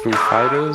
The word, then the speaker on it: Foo Fighters: So is it Foo Fighters or Is it Foo Fighters? Is the accent on the Foo or the Fighters? Oh, it's on the Fighters.